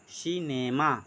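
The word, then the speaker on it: cinema: जैसे जैसे सी आई एन ई एम ए, सी आई एन ई एम ए, सी के बाद आई है, इसको बोलेंगे सिनेमा।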